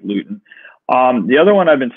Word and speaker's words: Luton: No, Gardner Minshew's out for another week, so you're going to get Jake Luton or Lutton. I don't know how to pronounce his name. I think it's Luton.